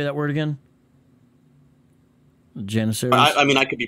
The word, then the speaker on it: Janissaries: Janissaries? I mean, I could be pronouncing it wrong. I say Janissaries, you know, but Janissaries? That's English. I think Turkish is something like Janissaries? Janissari or something like that.